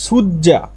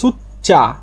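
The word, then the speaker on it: 숫자: এখানে সুজ্জা মানে সংখ্যা, উচ্চারণটা হবে সুচ্চা মানে সংখ্যা, সুচ্চা মানে যে সিউতের পরে জিউত আসলে জিউতের উচ্চারণ চ হয়, সুচ্চা সংখ্যা।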